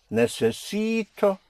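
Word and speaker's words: necesito: Necess I need Here we have four syllables. Necess you have a vowel at the end. So you push down on the syllable before last on the penultimate syllable which makes it necess and then you come up on o necess for I need.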